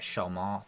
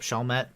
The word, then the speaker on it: Chalmette: their armed support during a historic event at shalma plantation i said it wrong yep chalmette that's question number seven it's lafittes yeah and